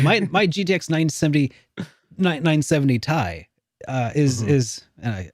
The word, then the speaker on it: Ti: cuz I'm like my my GTX 970 970 Tai uh is is and I I called it Tai because that's how it's supposed to be pronounced but um it actually it's short for